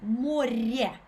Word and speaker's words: море: We have the next word море. Yeah. Море. If you can roll your r. It's not a r, it's a r, more, not more, more.